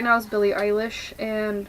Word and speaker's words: Eilish: One of my favorite singers to listen to right now is Billie Eilish, and I'm pretty sure that's how you say her name. In German it would be pronounced Eilish.